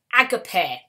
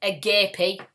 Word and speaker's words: agape: learn is called agape if you call it a gay pig that is fine it's not an it's not a an oral exam it's a written example as long as you spell it right that is fine but the word is uh agape and this and agape